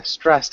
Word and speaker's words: stressed: Yeah, stressed out. Can you repeat stressed? Stressed out? Stressed out. Yeah, stressed out. Stressed out. Yeah, try to get that T sound at the end.